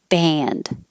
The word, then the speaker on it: band: 20, whether it's spelled this way or this way, it sounds the same. Band. And this is the ah. That's a great band. Or that band is banned.